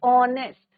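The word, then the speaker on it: honest: Consonant ऑनेस्ट H silent है। But sound किसका आ रहा है? वोवेल साउंड आ रहा है। ऑनेस्ट एन ऑनेस्ट बॉय।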